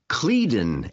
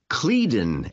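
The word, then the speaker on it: Cledon: the name of the airport well it's called cleton airport how do you spell that c l e d o n that's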